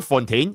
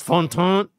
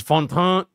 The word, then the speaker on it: Fontaine: It's not even Fontaine, it's Fontaine. This is the proper pronunciation. It's Fontaine. There's a little huh.